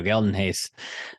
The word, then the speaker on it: Geldenhuys: And quick shout out to PG Geldenhuys, I think is how you say his last name. Geldenhuys. Geldenhuys. There we go. Geldenhuys.